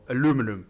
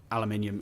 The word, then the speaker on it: aluminium: now bring them out with aluminium or aluminum is if you live in the in the Americas but I will say that aluminium is the correct way to say it because I am from the UK and you guys over in the Americas speak English um but yeah there